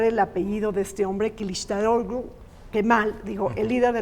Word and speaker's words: Kılıçdaroğlu: Bueno, me es difícil pronunciar el apellido de este hombre, Kılıçdaroğlu, Kemal, digo, el líder de la oposición, pero la también... G es como una H muda.